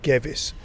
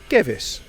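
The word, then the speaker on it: Gewiss: kickoff at the G whs Stadium actually pronounced gavis Stadium he I asked him before is that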